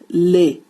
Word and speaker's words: les: LES, pronounced as lay. Lay means the.